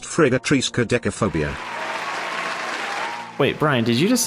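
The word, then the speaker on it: friggatriskaidekaphobia: Actually, Matt, it is pronounced Frigatrisca decaphobia.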